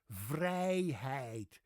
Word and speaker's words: vrijheid: The Dutch word for freedom, vrijheid. V-R-I-J H-E-I-D, vrijheid. Exactly the same I sound, just a very different spelling.